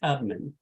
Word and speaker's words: Tubman: Was the first one, was it Harriet Tubman or Tuberman? Tubman. Okay. we got Tubman. Tubman. actually pronounced Tubman.